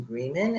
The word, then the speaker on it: Greeman: I mispronounced your name that is Susan Greenman and not German and thank you to